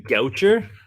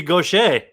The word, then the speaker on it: Gaucher: They can't take Nathan Goucher. Yeah, Nathan. but Goucher does sound like a guy who just serves. Oh, he's French. It should be Gaucher.